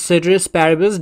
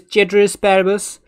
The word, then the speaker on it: ceteris paribus: another series and lastly different people pronounce citrus parables differently there is certain asparabus there is tetris parabus there is caterer asparagus and there is paribus as well i have learned it as citrus parables that's why i say